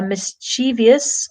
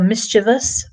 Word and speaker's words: mischievous: So a mischievous or mischievous, both pronunciations are fine. No one agrees on the pronunciation there.